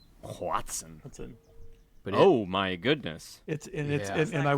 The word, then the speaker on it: Hoatzin: I think of all spell that? It's Hoatzin. Watson.